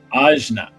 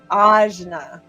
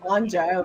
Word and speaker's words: Ajna: And how do you say it? Ajna. Ajna. Okay, I would say third eye or Anja, which apparently I've been saying it wrong this whole time. Ajna.